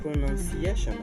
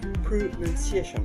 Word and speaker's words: pronunciation: prononciation OK prononci prononciation alors il disent plutôt prononciation prononciation au dire prononciation plutôt pronunciation ok pronunciation pronunciation way prononce et donc